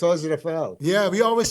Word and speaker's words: Rafael: because Raphael is usually more like a Spanish name. American way to say it. But in Brazil, in Portuguese, they don't pronounce the R is it's an H.